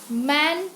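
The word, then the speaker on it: M.A.: used a man but in case of ma while pronouncing M A here an a sound is coming that's why an m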